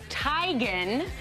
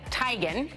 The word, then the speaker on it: Teigen: She says it's pronounced, like I just said it, Teigen, and I've always pronounced it like everyone else, Teigen.